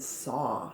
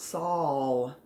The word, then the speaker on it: saw: one oh oh and saw notice it's not saul a lot of people spell it with an l on the end no we don't pronounce it saul we don't say i